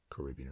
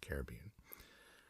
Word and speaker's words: Caribbean: Sperm whales in the Caribbean or Caribbean, depending on your particular way of wanting to pronounce Caribbean or Caribbean, have a different accent